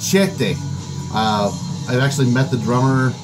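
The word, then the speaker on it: Chthe'ilist: up, but this is, it's pronounced Chete.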